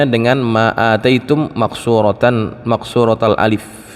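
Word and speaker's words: أتيتم: Dia sendiri membacanya dengan Ma atitum makqsuratan maqsuratal Alif dia bacanya bukan Ma maitum Ma ataitum tapi dibacanya pendek maitum maksuratal Alif dengan pendek alifnya Ma ataitum Gitu ya Ma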